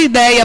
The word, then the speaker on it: ideia: Porque a palavra ideia, por exemplo, como é que eu separo a palavra ideia? I-dei-a. Qual é a sílaba tônica da palavra ideia? Dei.